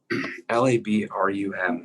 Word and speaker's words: labrum: is next i'm going to define a labrum lab-r-u-m it's pronounced labrum this is extended fibrocartilage it's kind